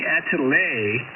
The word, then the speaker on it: atelier: So the workshop of an artist is called either the factory, the shop, the atelier, I believe would be the French pronunciation, A-T-E-L-I-E-R, atelier, or workroom.